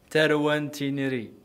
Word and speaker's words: Tarwa N-Tiniri: This break was also a good opportunity to get a lesson in pronunciation. Tarwa N-Tiniri.